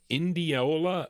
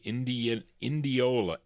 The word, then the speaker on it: Indianola: How do you pronounce this? Oh, Indianola, Mississippi. I N D I A N O L A Indianola.